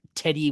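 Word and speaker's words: Teddye: It's Teddy, right? Even though it's got an E at the end. Teddy.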